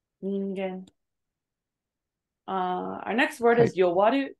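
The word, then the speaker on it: 人間: So the Hito kanji is pronounced as Nin. Ningen.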